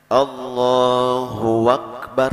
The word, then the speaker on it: Allahu Akbar: mungkin kadang bisa juga terjadi adalah Hai bisanya Allohuakbar ya Allahu akbar Azzahra Hai jadi harus jelas membacanya dan jangan ditambah lawan Wow diantara kedua